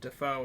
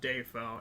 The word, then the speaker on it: Dafoe: william dafoe well so he explained it as half of his family pronounces it dafoe and the other half pronounces it defoe and defoe just sounds better as as a name